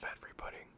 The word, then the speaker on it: Fat FR33 Pudding: Pudding, and it's no, it's supposed to be pronounced Fat Free Pudding.